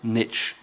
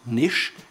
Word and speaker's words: niche: Americans still call it niche some even call it niche and all three of them are correct according to merriam-webster personally I prefer niche